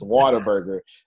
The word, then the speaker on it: Whataburger: So Texas is Whataburger, as in water. That's not the way it's spelled, but that's how we say it.